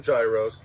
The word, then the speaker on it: gyro: How do we pronounce the gyro? Gyro. G's Gyro. are wise. Gyro, gyro. Every time I say gyro, they're like, "What the hell are you ordering?" That's the right way to say it.